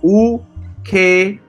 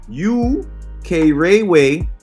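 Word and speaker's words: Ukerewe: All right, so the pronunciation is U-K-Re-We. So that's U-K-Re-We. The prefix U means land of or country of. Thus, U-K-Re-We means the land of the K-Re-We.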